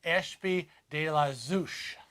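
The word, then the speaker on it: Ashby-de-la-Zouch: Oh, Jamie said it's pronounced Ashby de la Zouch.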